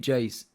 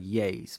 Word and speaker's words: Iayze: So when I read J's, for me it looks like yays, but I have to pronounce J's because people get mad if I don't pronounce it properly.